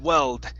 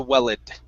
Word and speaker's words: welled: you you missed okay this was one where you said correctly at first you said weld and then you switched it to well it okay so let's try this remember that e is not pronounced right there in the middle so